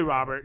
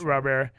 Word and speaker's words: Robert: he says it and there's a rolling r in there that americans can't say so if you just say robert you're right you're right it's not rubber i the uh i